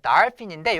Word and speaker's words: dolphin: 자, 그 다음에 dolphin 또는 dolphin인데 요 F 발음 주의하셔야지 돼요. 한국어 발음에 없는 발음인데요. 자, 윗이빨로 아랫입술을 살짝 물어보세요. 이렇게. 그 상태에서 푸 발음을 하는 거예요. 푸. 알겠죠? 자, 살짝 문 상태에서 풀어주면서 푸. 알겠죠? 그래서 dolphin이에요. 돌핀이 아니에요. dolphin. 자, 그리고 요 발음도 주의하셔야 되는데요. 자, 오와 어의 중간 발음 정도 됩니다. 알겠죠? 그래서 오, 입 중간, 앞부분도 아니고 뒷부분도 중간 정도에서 발음 내요.